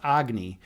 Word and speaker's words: Agni: name is is is one of except it's pronounced agy in in Hindu mythology I pronounce it Agy